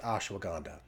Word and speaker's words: ashwagandha: hanga if you did it phonetically so it's pronounced ashwagandha so the version that we use is very